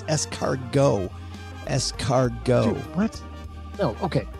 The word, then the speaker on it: escargot: Why would we put it there if you're not supposed to pronounce it? It is, very good point. However, in this case, it is escargot.